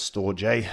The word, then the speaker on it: Storj: a listing bounce now as I said pronounce store J it's an open source